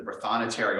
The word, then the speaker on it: Prothonotary: Yeah, basically it's Protho Notary, Prothonotary, Protho Notary Office.